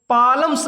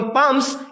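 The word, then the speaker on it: palms: याद रखना हमेशा L will be silent before M, एम के पहले प्यारे छात्रों जो एल होता है वो साइलेंट रहता है, ठीक है। इसका प्रोनाउंसिएशन नहीं होता है, इसका उच्चारण नहीं होता है, ठीक है।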